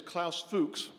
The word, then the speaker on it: Klaus Fuchs: our next buy is Klaus Fuchs that is the pronunciation I believe we will not be accepting any others tonight uh so Klaus is